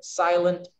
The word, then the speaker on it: silent: Which syllable do we stress in silent? Is it silent or silent? Silent, the first one.